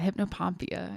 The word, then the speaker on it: hypnopompia: Yeah, hypnopompia, if I'm saying it right.